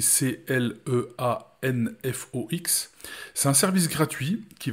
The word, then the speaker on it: Cleanfox: technique mais c'est l'utilisation d'un outil comme clean cleanfox ça s'écrit C l e a n F O x c'est un service gratuit qui va scanner votre